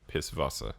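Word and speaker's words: Pißwasser: that's the joke actually they pronounce their w's like these so it'd be piss vasa you know what i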